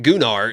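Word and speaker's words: Gunnar: it's not doing our stop saying it is gular it literally is the Chad confirmed it it's gunar that's how you say it and they're just they're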